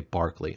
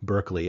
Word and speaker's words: Berkeley: Americans would say Berkeley uh Englishman and Barkley was an Englishman say Barclay right um and and the the town in California where there's a prominent University the University of California at Berkeley As Americans say is actually named after uh this this Barkley slash Berkeley um and uh one